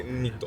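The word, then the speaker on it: Nニット: ニットって書いてンニットって読むやつで、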